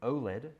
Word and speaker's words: OLED: explanation for that now so o displays or as I pronounce them OLED displays are the most suitable